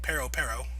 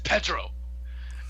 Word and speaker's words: Pedro: And Luffy seems to get the name wrong again. Pero is what he's calling him. My name's Pedro.